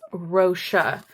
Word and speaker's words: Rossa: I saw about the author, and it's Rossa. That's how we pronounce it.